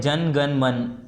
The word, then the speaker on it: जन गण मन: तो ये से पढ़ते हैं जन गण मन, ए यहाँ पर साइलेंट होता है, ठीक है।